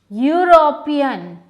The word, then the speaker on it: European: Let's pronounce the following. Uniform, U, European, U, and unicorn. So now if we see that U is a vowel, but we have to write an, but we don't write an. Why? Because the sound of U is Y and U.